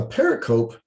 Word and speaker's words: pericope: larger structure of the story a pericope this is spelled p-e-r-i-c-o-p-e pericope a pericope is an excerpt it is